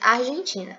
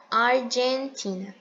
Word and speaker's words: Argentina: não pronuncia no inglês Argentina é Argentina lembra que o a letra G tem o som de di Exatamente isso Argentina e